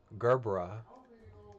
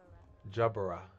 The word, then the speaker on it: gerbera: Okay, so Google is telling me that in American English is pronounced as Gerbera, and then in British English is Jabera.